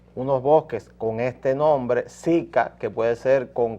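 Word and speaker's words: zika: información a los televidentes se llama sica Z i latina k a no ca ca Sí en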